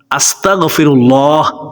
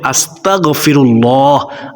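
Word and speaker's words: أستغفر الله: ভাবে উচ্চারণ হয় না আস্তাগফিরুল্লাহ এভাবে আপনি উচ্চারণ করবেন অনেকে আস্তাগফিরুল্লাহ পড়ে আস্তাগফিরুল্লাহ পড়লে হবে না পড়তে হবে আস্তাগফিরুল্লাহ আস্তাগফিরুল্লাহ এভাবে আপনি পড়বেন 100 বার প্রিয় দর্শক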